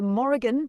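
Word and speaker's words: Morrígan: The Morgan, pronounced Morgan, is one of the most enigmatic and powerful goddesses of Irish paganism.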